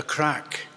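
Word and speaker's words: craic: to bring what in Ireland is termed the crack. And it's spelled C-R-A-C-K, and it's a Scottish word, and it has nothing to do with drug taking.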